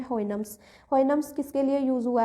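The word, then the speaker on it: Houyhnhnms: होइगनम्स, होइगनम्स, होइनम्स, होइनम्स, होइनम्स याद रखना, इसकी प्रोनाउंसिएशन है होइनम्स।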